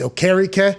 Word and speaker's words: Okereke: Now, I believe he has changed his name back to its original pronunciation with his Nigerian heritage. So I believe it's Okereke. I wish I would have been able. Bobby Okereke.